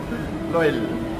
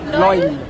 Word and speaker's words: loll: Loll. Well? Loll. Well? Loll. Loyal?